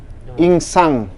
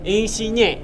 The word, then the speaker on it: Insigne: Oh, namanya Insigne. Isinya. Insigne. Nah, dibaca isinya.